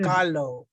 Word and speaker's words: Kahlo: Yeah, Cat, like well, cat, and I said, it's yeah, Kahlo. yeah. Well, yes, people haven't heard the original pronunciation.